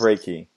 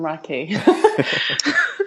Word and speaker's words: Reiki: You Raiki Raiki. Oh, it's pronounced Reiki.